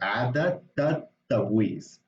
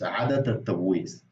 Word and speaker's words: عادة التبويس: So it sounds like عادة التبويس. You see, so it's a bit hard maybe to pronounce initially, but it's عادة التبويس.